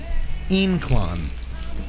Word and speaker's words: Ynclan: stuff the Lafleur day in clong lancero especially all by Villiger cigars it's pronounced in Quon okay okay incline gin